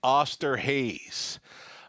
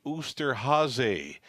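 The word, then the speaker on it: Osterhase: you pronounced the name uster hazy it's German for Easter Bunny so I have been calling the horse Oscar Hayes but yeah they it's ooster Jose a German name for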